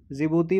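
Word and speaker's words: Djibouti: जिबूती में जो है डी साइलेंट है, ठीक है, जैसे नॉलेज में के साइलेंट है।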